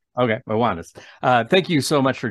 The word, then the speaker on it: Ioannis: pronounced that correctly. Yeah, just my first name's Johannes. I only go by my first name. Okay, Ioannis.